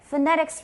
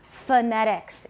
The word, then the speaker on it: phonetics: It's not phonetics because is the first syllable stressed? Phonetics. 第一个音节有重音吗? No. Many unstressed syllables in English are pronounced with an upside down E, which is called a schwa. It's also called a neutral vowel. In Chinese, it's called a yang yin, 倒写的一个小写的 E. So it's pronounced phonetics. Phonetics.